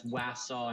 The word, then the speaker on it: Wassaw: Yeah, it's Wassaw and Ossabaw. Wassaw, Ossabaw. I know because I've been going down there for 20 years.